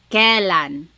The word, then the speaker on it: kailan: Then the word kailan, when. You might hear some people say kailan. Sounds like an E, but it's technically spelled with an AI.